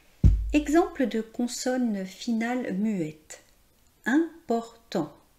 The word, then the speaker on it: important: Important. On ne prononce pas le T final, c'est au masculin.